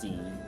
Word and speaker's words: Xi: Also, the president of China, his name is Xi, as in Z, is pronounced Z, Xi Jinping.